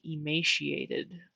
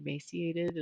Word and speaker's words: emaciated: in another video but the woman kept saying emaciated with an sh in the middle and i don't pronounce it like that i say emaciated i feel like like most people say emaciated but maybe most people